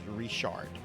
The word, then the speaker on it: Richard: So this word right here, this name Richard. Okay, anybody that speaks English would pronounce that as Richard, right? It's not how you pronounce that in South Louisiana. You pronounce that as Rishard.